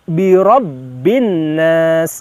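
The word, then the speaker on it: برب الناس: Nah, kemudian yang terakhir di kalimat birabbin nas. Birabbin nas, ada dua huruf yang di atasnya terdapat tasydid, di mana kita harus ada penekanan dalam membacakan huruf tersebut, yaitu huruf ba dan huruf nun.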